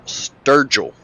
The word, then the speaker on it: Sturgill: It is Michael Sturgill. Sturgill, all right.